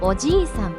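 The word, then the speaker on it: おじいさん: 오지이산, 할아버지. 이 단어는 오지이상이라고 지 뒤에 이를 길게 늘려서 발음합니다. 이때 지이는 두 박자처럼 발음되어야 합니다.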